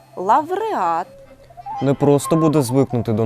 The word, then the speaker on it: лавреат: як аудиторія пауза фауна лауреат тепер їх бажано вимовляти зі звуком в авдиторія павза Фавна лавреат не просто буде звикнути